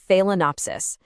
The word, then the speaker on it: Phalaenopsis: It's pronounced Phalaenopsis.